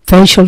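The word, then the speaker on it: facial: থেকে কি হয় ফেসিয়াল আমরা বলি যে ফেসিয়াল করতে গেছিলাম এটিও কিন্তু উচ্চারণ একটি ভুল উচ্চারণ বিদেশের মানুষ এটা বুঝবে না ফেসাল শব্দের অর্থ হচ্ছে মুখের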